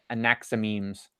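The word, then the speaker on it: Anaximenes: Anaximemes.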